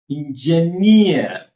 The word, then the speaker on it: engineer: Yeah, word end in EE, EER, ETTE, QUE, AIR. Stress fall on last syllable.